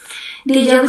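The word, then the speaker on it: déjà vu: Dejavu sendiri itu punya arti pernah lihat. Deja itu pernah eh Deja itu sudah. Vu itu lihat jadi sudah lihat. Jadi udah pernah lihat dejavu. Tapi cara prasnya kayak dejavu.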